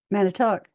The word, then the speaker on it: Manitowoc: m a n i t o w o c Manitowoc?